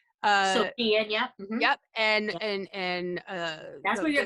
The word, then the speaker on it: Shein: But yeah, you always have the most creative stuff, and you literally get things from expensive to how is it pronounced? Shein. So Shein, Yep, and that's where your glasses are coming, actually.